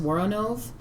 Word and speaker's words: Woronov: All right, and nobody is probably going to think this is cool but me, but I think it's pronounced Woronov, who played the channeler, was Miss Evelyn Tuggar in Rock and Roll High School.